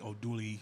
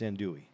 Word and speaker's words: andouille: It's andouille. I know I didn't say it right. Okay, but I'm just, I just feel bad. Yeah. Because I fuck up words all the time. Yeah, so it's andouille, even though it looks like andouille.